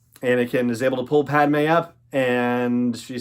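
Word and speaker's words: Padmé: able to do it so Clovis says I'm sorry Padma because that's how he pronounces it and let's go himself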